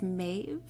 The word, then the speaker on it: Maeve: myself for even saying my name but it's maeve that's uh m a e v e and